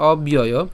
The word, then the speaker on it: অব্যয়: আমাদের যে উচ্চারণ আছে অব্যয়, একে যদি আমরা উচ্চারণ করে একটু যদি ভাঙার চেষ্টা করি তাহলে অব্যয়, ইয় ইয়। কেন ইয়? কারণ এই যে জফলা, জফলার উচ্চারণ কি হয়? জফলার উচ্চারণে যে ইয় হয় এবং অন্ত্যেষ্টিয় বাকি যেটা আছে সেই অন্ত্যেষ্টিয়টা বসে গেল, তাহলে অব্যয়, ঠিক আছে, অব্যয়।